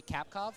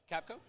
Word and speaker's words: Kapko: So let's say, how do you pronounce her last name? Excuse me, Kapkov, right? Kapko? Yeah, Kapko.